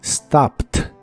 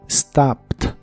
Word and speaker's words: stopped: que en este caso la e d que se le agrega al final se pronuncian como t stopped stopt en el pasado la